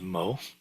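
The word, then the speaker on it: 摩: It shows that it is actually pronounced Mo in Pinyin. It's in, so H.Ma.2 means that it shows up in the Heart Sutra. It's pronounced as Ma in Sino-Korean, and it occurs 2 times.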